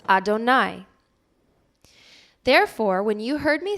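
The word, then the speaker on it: יהוה: is the yudhi vaav hey to which we pronounce adonai therefore when you heard me say adonai adonai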